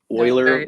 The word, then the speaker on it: Euler: so I guess we can start with the pronunciation oer lrange the first part last name of a